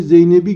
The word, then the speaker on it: Zeynep: Dün gece Zeynep'i gördüm ifadesinde. Arkadaşlar Zeynep'teki P ünsüzünün yumuşadığını görüyoruz. Özel isimlerde yumuşama okunuşta olur, yazımda olmaz.